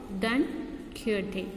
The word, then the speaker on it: Don Quixote: in term 2, the first prose, adventures of Don Quixote. Don Quixote, not Quixote. How do you pronounce it?